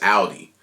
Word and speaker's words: Audi: I don't say Audi, it's Audi.